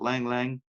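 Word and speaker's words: ylang-ylang: y-l-a-n-g hyphen y l a n g it's pronounced Lang Lang and Cedarwood those are really good so again it's uh like lavender chamomile Sandalwood ylang ylang and Cedarwood those are really really good in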